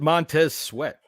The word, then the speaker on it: Montez Sweat: You pronounce it Montez Sweat.